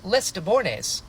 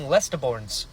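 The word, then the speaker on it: Lestibournes: And another thing getting weird, the narrator is mispronouncing Spook's name cuz it's Lester Deborres, right? But now he's saying Lesterorns.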